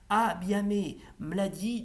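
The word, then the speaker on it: Бяхме млади: étions jeunes, et en bulgare traditionnel, ça se prononce Abiame Mladi de Binka Geliaskova.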